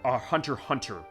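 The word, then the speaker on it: Hunter × Hunter: nagu hazama on Hunter Hunter Hunter it's the Hunter x Hunter thing as far as how it's spelled it's pronounced Hunter Hunter one of my co-workers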